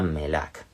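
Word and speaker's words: መልአክ: Entonces, pues eso, en Git Ángel es melac, se pronuncia melac, que viene del verbo leake, que es eso como enviar un mensaje, enviar un mensajero.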